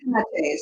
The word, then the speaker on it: Penates: Fulo asked a question about I believe is Penates, or how Oh, do you yes, the pronounce it? Penates.